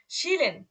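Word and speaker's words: chillen: দেখেন তালবীয় শ শব্দের শুরুতে ছিল বলে আর উচ্চারণটা কি হয়েছে, তালবীয় শ এর মতো।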